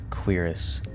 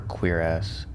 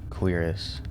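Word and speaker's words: cuirass: Apparently it's queerus, or queer-ass. It's a French word, apparently. The more you know. So I'm gonna say queerus.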